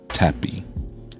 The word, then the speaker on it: Tappe: the name Nancy and tappy Nancy and tappy uh last name is spelled t a p PE for anyone who wants